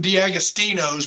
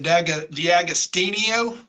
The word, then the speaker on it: D'Agostino: I've known some D'Agostinos, but yours is a little different. Is it D'Agostinio? D'Agostino. No, you said it right the first time.